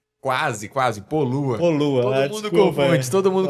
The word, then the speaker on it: Poluha: Tem um H perdido lá no meio do nome.